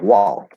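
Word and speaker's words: walk: wow yep in fact it'll sound like wall forward wall um w fifth vowel spelled a l but the l is it represents the fifth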